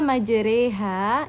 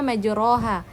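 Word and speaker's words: مجراها: Nah, pada kata majreha ini seharusnya majroha tetapi dia dimiringkan bacaannya menjadi majreha.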